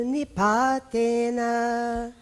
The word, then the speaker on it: nipatena: So we are going Jala bindu nipatena. Jala bindu nipatena. So the na, nipatena, is followed by a compound consonant, which is the kra.